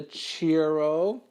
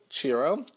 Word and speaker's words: churro: my mouth this is a cheero churro churro churro that's how you pronounce it churro churro curler so